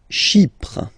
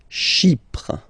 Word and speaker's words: Chypre: Chypre. Chypre. So remember, we've got this Y letter here, but then phonetically when you pronounce it, it's like I, okay?